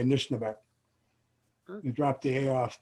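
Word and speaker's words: Anishinaabeg: in the title, how do you pronounce this Anishnaabeg? I'm not sure. Anishnaabeg, yeah. Anishnaabeg.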